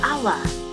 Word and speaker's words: hour: You don't say a hour, you say an hour. We say an hour because the word hour has a vowel sound.